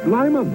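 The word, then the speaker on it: Lymon: this is the legendary lmon pronounced Lyon as in great Lyon taste made of half lemon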